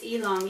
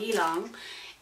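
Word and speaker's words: ylang: a n g and the way that it's pronounced is elong elong um and that was my middle my middle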